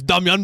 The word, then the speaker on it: Damian: Serb or a Massa, it's Damian. Yeah. Don't fucking say Damien. Who's Damien? Who's Damien? It's Damian, bruh.